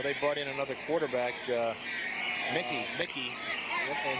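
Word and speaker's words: Muecke: And you know, they brought in another quarterback, Mickey, and he spells his name M-U-E-C-K-E, and it's pronounced like Mickey Mouse.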